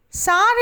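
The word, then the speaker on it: tsar: used as a museum note sar is a title used for russian kings in earlier times a female ruler was called serena t being silent in the pronunciation of both words number three is the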